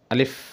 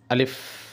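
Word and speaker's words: ألف: আরবি হরফ আলিফ যখন আপনি উচ্চারণ করবেন তখন দুটি জিনিস খেয়াল রাখতে হবে। এক হরফটি কোনভাবেই টানা যাবে না। দ্বিতীয়, হরফের শেষে মানে উচ্চারণের শেষে কখনোই দোনো ঠোঁট এক করা যাবে না।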